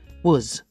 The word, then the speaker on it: was: the pronunciation we say was I was it's written W a s but we say was I was in New